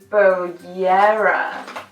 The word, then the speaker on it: bollera: J: "Spelt bollera, but you say it bo-yeah-ra" J: Does that make it Spanish?